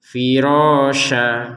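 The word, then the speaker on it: فِرَاشًا: Nah, kalau kita berhenti menjadi firosya jadi panjang dua harakat yang awalnya firosan kalau kita berhenti menjadi firosya.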